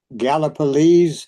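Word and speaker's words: Gallipolis: Galiples, Ohio. Okay, it ends with an S, but it's pronounced Z.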